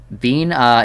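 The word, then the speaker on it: Binah: either but good one bean uh is how it's pronounced I see judgment bird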